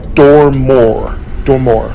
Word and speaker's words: Dormor: Dormor. New line. Yeah, Dormor. Interesting. Dormor. No E, so Dormor. It's a little shorter pronunciation.